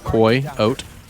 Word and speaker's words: coyote: how to read i think if it was meant to be pronounced coyote it would be k-a-i-o-t-e but it's not that it's c-o-y-o-t-e koi oat pretty straightforward stuff what's a girlfriend a